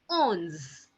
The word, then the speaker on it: onze: 11, it's written down as ONZE, and it is being pronounced as ons, ons.